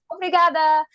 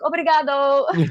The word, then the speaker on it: obrigada: knew was obrigada, and I was even saying it wrong because I was saying the guy's version. I was like obrigado and I'm like whatever.